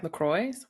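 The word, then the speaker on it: LaCroix: Spritz of how you say it lro yeah lacro okay yeah little bubbles yeah it's really good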